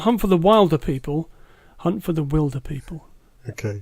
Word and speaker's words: Wilderpeople: So that is Hunt for the Wilderpeople. Not Hunt for the Wilder People, Hunt for the Wilderpeople. Okay. That's important. Spelled like Oscar Wilde. Spelled like Oscar Wilde, pronounced Wild. Like wildebeest.